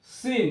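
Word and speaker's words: scene: মধ্যে আসছে না muscle সিন এস সি ই এন ই সিন সিন এখানে সি এর যে উচ্চারণ এখানে সি টা সাইলেন্ট তো লাস্ট যে লেটারটি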